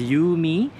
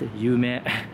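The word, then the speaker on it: ゆめ: right there it says you me it's actually pronounced yume which means dream in japanese and that is a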